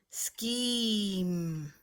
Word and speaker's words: scheme: here's the word scheme the digraph will make the K sound because it's with a three-letter digraph land and then it has a long e scheme the other Ria's on